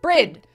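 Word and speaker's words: Bríd: that's right down there brid an Irish version of the name Bridget a famous Irish saint it's pronounced with a long e uh similar to the English word breed breed breed um but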